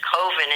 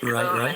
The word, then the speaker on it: Coven: I want my band Coven," which is Coven in Europe. They pronounce it Coven.